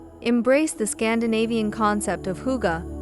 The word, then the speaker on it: hygge: Embrace the Scandinavian concept of hygge, pronounced hygge, to cultivate coziness and comfort in your Japandi home.